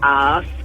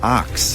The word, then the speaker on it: asked: We say like asked. And people chuck an R in there. Arcs.